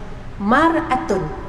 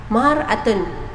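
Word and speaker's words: مرأة: sallallahi wasallam ajar kita Ana sebut maratun wanita maratun dalam bahasa Arab maksudnya wanita maratun ejaannya mim ro Alif Hamzah ta mutah tapi ejaannya di bawah baris di bawah miratun cermin beza baris betul Sayang kalau perempuan disebut maratun kalaulah miratun B ba boleh nampak kan maka Rasulullah Sam ajar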